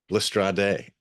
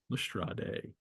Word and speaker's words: Lestrade: um, Um, Max suggests that Lestrade actually rhymes with Sade. oh, there you go. So Lestrade. Lestrade. Well, Watson and Holmes are now going to call upon Mrs.